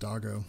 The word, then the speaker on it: Dago: I can't see who muted Dago, but it's actually pronounced Doggo.